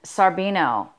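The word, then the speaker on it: Scarabeo: Okay, so the first name is spelled L-O for Lo or Lou, and Sarbino, S-C-A-R-A-B-E-O.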